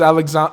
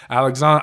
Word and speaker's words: Alexandre: when I'm reading it I want to say Alexander I think it's alessandres how they pronounce it right the first name but